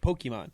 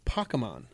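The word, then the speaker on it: Pokémon: how we call it, Pokemon. Sure. Then I ran into people who are like, it's Pokemon. Like, it's kind of more the Japanese pronunciation, I guess.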